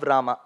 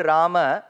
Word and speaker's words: राम: वाज not Kaikeyi sun आई am using the word रामा because ट्स द वे the word has टू be pronounced it इज नॉट the south Indian वर्न रामा Govinda रंग because it become स्त्रीलिंग वाचक शब्द इट इ neither the north Indian version राम Govind कृष ट is also